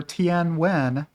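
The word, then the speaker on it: Nguyễn: find the credit for tnw which is how you pronounce Ng U ye n in Vietnamese uh let me know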